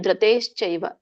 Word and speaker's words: ಧೃತೇಶ್ಚೈವ: ಮತ್ತೆ ಅಲ್ಲಿ ಧೃತಶ್ಚೇನ ಧೃತೇಶ್ಚೈವ ಅಲ್ಲಿ ಕೂಡ ಮಹಾಪ್ರಾಣ ಬಿಟ್ರಿ.